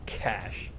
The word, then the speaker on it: cache: It's cash.